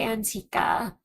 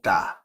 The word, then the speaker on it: Ankita: I can't pronounce it, so I say Antika. Did she say I pronounced it wrong? It's Ankit. I know, so how do you pronounce it? Ankita. Ankita.